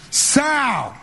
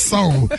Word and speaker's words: soul: And the Golden Globe goes to Sal. How you mispronounce soul? It's one syllable.